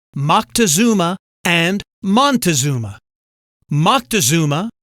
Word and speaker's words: Moctezuma: Moctezuma, born in circa 1466, has many variant spellings and pronunciations, including Montezuma.